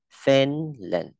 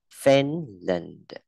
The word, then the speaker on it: Finland: Ê, chữ này đọc là E, không đọc là Fin mà đọc là Fen nhá. Ê. Finland. Finland. Đ, âm đờ nhẹ. Finland.